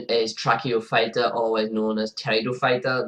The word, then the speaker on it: Pteridophyta: The next division is Tracheophyta, otherwise known as Pteridophyta, the silent P in front, and these are known as ferns.